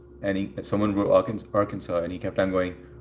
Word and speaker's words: Arkansas: Somebody was from Arkansas. It's funny because Tag until you He was He was on the live and he someone wrote Arkan- Arkansas and he kept on going Ar-Kansas, Ar-Kansas.